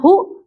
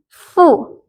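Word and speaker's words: ふ: Jadi bukan hu, tapi fu.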